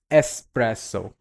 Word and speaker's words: espresso: It's espresso. Don't pronounce this with EX, rather ES, S, espresso.